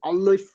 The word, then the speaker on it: alif: So she says like instead of alif, she goes alif, and she pronounces that properly.